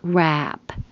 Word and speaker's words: wrap: The vowel is a. So yeah, be careful. You don't want to mix those up and accidentally say the more serious one.